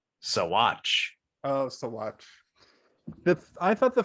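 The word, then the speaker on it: Saguache: But also, according to the sheriff's department of said city, it's pronounced Sawatch.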